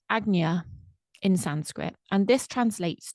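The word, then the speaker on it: Ajna: completely mind blown by it um so it's pronounced AGA in Sanskrit and this translates to foremost and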